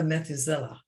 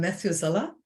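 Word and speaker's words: Methuselah: then I am a methizella uh what I'm Matthew Zella is that the way it's pronounced m-e-t-h-u-s-e-l-a-h did you did you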